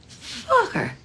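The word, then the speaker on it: Focker: Oh, just like it's spelled. F-O-C-K-E-R. Fucker.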